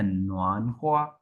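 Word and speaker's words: 暖和: हूं जो फंक्शन लीह नन ख्वा नन ख्वा होता है ख जो है ना एंड वाला उसकी प्रोनाउंसिएशन ख्वा होती है।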